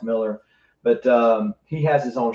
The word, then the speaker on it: Millar: Some people say Millar, but it's pronounced Miller.